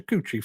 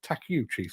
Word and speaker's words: Takeuchi: reliability who knew uh pronounced how it's spelled yes apparently it is I've been saying teuchi for years I need to remind myself to see takiuchi same as I need